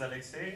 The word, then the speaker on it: Alexey: so um alexa teachers i pronounced it right so my name is alexey i'm developer of click house and my talk